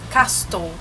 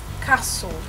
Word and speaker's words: castle: l muitas pessoas falam castol né então você meio que você corta ali o t você não fala fala Castle Castle então mais uma